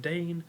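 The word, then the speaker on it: Daein: that it's crap it's crimea and dane that's pronounced dane i always had a hard time with it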